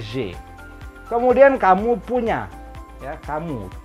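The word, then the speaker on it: j'ai: Itu adalah J. Ada AI berbunyi E. Ini dibacanya J.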